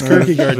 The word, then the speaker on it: Kirkegard: So yeah, but it's Kirkegard, just like it sounds.